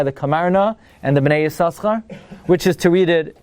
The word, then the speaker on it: Yissaschar: What was very surprising to me is Rav Moshe writes, the minhag is, like the Chasam Sofer, to pronounce it the first time. The first time you say Yissaschar, and after that you drop it.